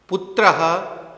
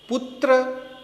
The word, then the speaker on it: पुत्रः: जनकः पश्यति, पितृव्यः पृच्छति, पुत्रः गच्छति, अश्वः धावति। यहाँ एक बात ध्यान देने योग्य है, हम उच्चारण करने के समय पुत्र धावति ऐसा नहीं बोलेंगे। पुत्रः, जनकः, अग्रजः, शिष्यः ऐसा उच्चारण करेंगे।